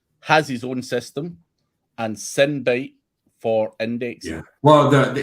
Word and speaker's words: Sinbyte: It's like sin.